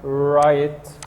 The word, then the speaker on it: write: my homework i write the w here is silent i write my homework number four